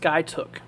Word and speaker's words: Skiatook: It's pronounced Skytook.